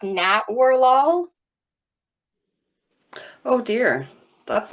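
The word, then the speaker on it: Natwarlal: And yeah, so that's believe from what I ran across, it's pronounced Nat Warlol.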